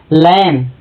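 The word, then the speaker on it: lamb: देखते हैं बी का जब यम के बाद बी आता है तो बी का उच्चारण नहीं होता है। जैसे लैम, यम के बाद बी आ रहा है या बी साइलेंट है इसलिए लैम।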